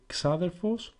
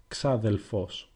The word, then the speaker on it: ξάδερφος: So since brother can be pronounced either αδερφός or αδελφός, In a similar manner, you can say xaderphos or xadelphos with a lambda.